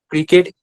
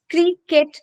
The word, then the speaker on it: cricket: So it's not cricket the way you are saying it, adding one extra syllable. That is how we made our pronunciation mistake. We won't be doing that. Whatever the sound might be, it has to be very much to the point. It's h. The sound of phonic sound of C is h. So that is how we will be pronouncing it as cricket.